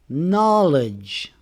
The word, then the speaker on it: knowledge: Rule number 2 is the K is silent in KN words. For example, we don't say knife. We say knife. The K is not pronounced. Knee. No. Knowledge.